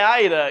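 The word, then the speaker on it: Isla: Pelo menos a pronúncia dela em japonês é Aira, e eu prefiro Aira do que Irsla.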